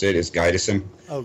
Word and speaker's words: Gydesen: want to welcome back uh and will guidon thank you hello is is that the way you spell it guidon now we actually spell it differently that's just the way to pronounce it is gison oh G okay yeah everyone cannot pronounce our